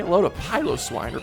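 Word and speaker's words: Piloswine: Evolutions say hello to pyos swine or pillow swine um I call it pyos Swan cuz I think that's how they pronounced it in the anime um which Kurt had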